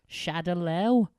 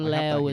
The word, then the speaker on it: Shadaloo: I fucking hate that they mispronounce so much in this film. Shadaloo? Shadow. What the it's fuck Shadowlaw. is Shadaloo? Shadowlaw. I thought it was Is it? Shadaloo. Shadowloo. Well, it was originally Shadowlaw.